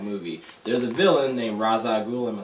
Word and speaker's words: Ra's al Ghul: There's a villain named Ra's al Ghul. Am I saying that right? I'll never say it correctly. Okay, cool. I did it right. Ra's al Ghul.